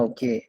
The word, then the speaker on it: haut: Actually, मैंने fait nouveau haut, like top, How do you say HAUT. top? Ah, ok, ok. O. O. ठीक है, nouveau O.